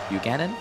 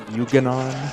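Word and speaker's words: Yuga Ganon: Yeah, this And how do you pronounce his name? Buchanan? It's pronounced Yuganon.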